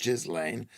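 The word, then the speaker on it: Ghislaine: a French work colleague was called Jalain, pronounced Jizlane.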